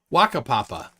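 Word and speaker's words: Whakapapa: titicaca it's called uh wakapapa skifield and the th and the wh is pronounced as an f yep i think i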